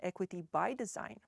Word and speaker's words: Equity X Design: Equity to drive Innovation we use the equity X design pronounced Equity by Design This method integrates racial